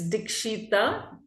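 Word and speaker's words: Dikshita: How do I pronounce it? It's Dshita.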